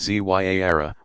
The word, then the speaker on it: Ziara: Ziara, pronounced Zyara, meaning visitation, is a form of minor pilgrimage still popular all over the world.